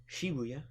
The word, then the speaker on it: Shibuya: done with day five and then day six shabuya and Harajuku where I bought this shirt Shibuya so uh it's actually pronounced Shibuya yes I actually am aware of that but